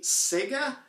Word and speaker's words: Sega: territory with the company Sega which we all know it's been rough forever in most parts logan west we mostly refer to that company of sega to rhyme with mega or vega and davis saying if